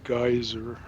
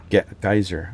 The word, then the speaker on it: geyser: By the way, they use the US pronunciation is geyser. Geyser.